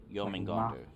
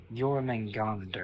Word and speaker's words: Jormungandr: How do you pronounce it again? Jormungandr. Jormungandr.